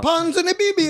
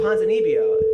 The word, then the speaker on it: Ponzinibbio: But you're saying it wrong. Ponzinibbio. No, it's Ponzinibbio. There's not two B's.